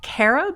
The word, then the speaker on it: carob: And you've got this story about carob. Is it pronounced carob? Carob, yeah.